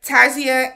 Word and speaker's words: Tasia: So after Ryan leaves and she starts talking to another gentleman, Tasia, I want to call her Tasha because that's how it looks like it's spelled, but Tasia and Caitlin come out and they're like, we need to speak with you.